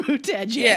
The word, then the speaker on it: Buttigieg: As a gay, it's Buttigieg. It's not. Because every time I look at it, I want to say Buttigieg, so that's why I asked your ass.